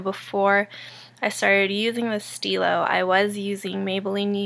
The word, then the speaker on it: Stylo: for Nars um but I've heard it pronounced in so many ways but it is pronounced Stilo in case you were